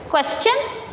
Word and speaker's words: question: Question. It is not question. Yes, T-I-O-N is also there. But before T-I-O-N, there is S. Here, no S is there. When S comes before T-I-O-N, its pronunciation becomes ch.